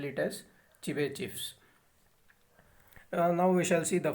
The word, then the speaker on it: Chebyshev: So here T is silent, so we have to spell it as Chebyshev.